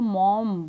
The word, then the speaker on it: Maugham: आप अगर इंटरनेट पे जाके देखोगे तो मॉगम की दो प्रोनाउंसिएशंस पड़ी हुई हैं, एक यूके की एक अमेरिका की. जो मैं बोल रही हूँ सॉमरसेट मॉगम, वो अमेरिकन प्रोनाउंसिएशन है, और जो यूके की है उसमें जी और एच साइलेंट है और वो उसको मॉम बोल रहे हैं, मॉम, ठीक है.